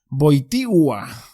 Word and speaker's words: Wojtyła: Dice, porque cuando se pone el acento en la L es Wojtyła. Ah, entonces los que decían Wojtyła lo decían bien. Pues fíjate, una L acentuada cambia totalmente lo que estás leyendo.